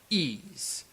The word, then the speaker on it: Ys: So you had this really clear narrator go, Ys, a wondrous civilization, or something like that. So that's how I know how to pronounce that.